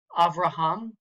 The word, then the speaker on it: Avraham: On the bottom right, we have Avraham. So that'll be accented on the final syllable. Avraham, Avraham.